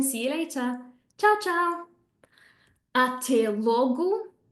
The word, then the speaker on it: até logo: Até logo will turn into te logo, te logo.